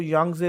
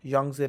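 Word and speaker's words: Yangtze: continent wise Asia जो यंगजे river के पढ़ाया टी साइलेंट यंगजे रिवर ठीक है या का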